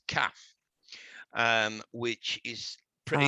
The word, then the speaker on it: kaf: and it's pretty it's kaf um which is pretty it's actually pronounced calf yeah which connects to